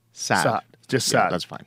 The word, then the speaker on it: Saad: Because it's the guttural sound from Arabic. Oh, well, how would you say it? Saad. Saad. But since most Westerners couldn't pronounce that, you just do a double A.